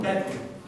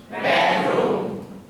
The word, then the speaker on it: bedroom: Bedroom. Bedroom. Be very careful. Many students pronounce these vowels the same.